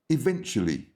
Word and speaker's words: eventually: And your next word is eventually. Eventually. The stress is on the second syllable, eventually.